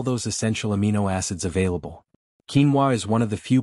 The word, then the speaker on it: quinoa: It's called quinoa, pronounced quinoa.